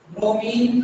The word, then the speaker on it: bromine: ब्रोमीन का symbol use करते हैं Br, ब्रोमाइन लिखा जाता है, प्रोनाउंस ब्रोमीन करते हैं।